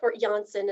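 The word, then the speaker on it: Janssen: ask the manufacturer okay next is jansen this one is a more recent johnson is actually how they pronounce it johnson or johnson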